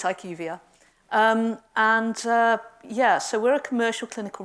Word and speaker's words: IQVIA: I am Vice President for Northern Europe for IQVIA, the almost unpronounceable name. Some people say IQVIA, but it's IQVIA.